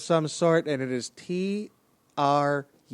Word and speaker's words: Trujillo: Like, she seems to have a Hispanic name of some sort, and it is Trujillo. There is not a hard consonant to be found in the last two syllables of that word.